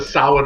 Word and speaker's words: Samhain: The Sam Hain brand. Yeah. Yeah. I realize from a Celtic perspective I'm butchering that word, but I have no idea actually how it's pronounced.